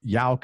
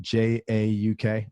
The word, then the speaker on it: Jauk: And again, his last name is Jauk. It's spelled J-A-U-K.